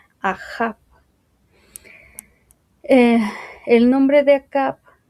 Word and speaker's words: Ahab: y una bet, que si lo queremos pronunciar como está escrito en hebreo, sería algo así como Ahab.